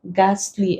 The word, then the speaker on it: ghastly: like where then also after R and G we do not pronounce it given examples rhyme rhythm rhinoceros ghosts get to ghastly against the Heat is